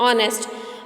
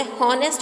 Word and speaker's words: honest: नेक्स्ट spelling आपको दिखाइए HONEST, ऑनेस्ट, MAN मैन, ऑनेस्ट मैन, इसे हॉनेस्ट मैन नहीं बोलते स्टूडेंट्स, इसे ऑनेस्ट मैन बोलते हैं।